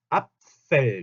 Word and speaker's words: Apfel: 앞 할 때 양 입술이 붙었다가 바로 F에서 윗니가 아랫 입술에 붙어서 새는 소리가 서 Apfel 이렇게 Apfel 복수형은 die Äpfel 이렇게 변합니다.